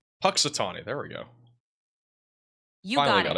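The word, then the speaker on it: Punxsutawney: It's pronounced Patatani. Patitani.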